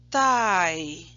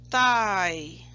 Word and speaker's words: tie: Tie. É quase como se falasse pai, só que com a letra T. Tie.